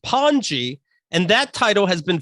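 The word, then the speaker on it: pany: inherits the title of pawnee p-a-n-y pronounced panji and that title has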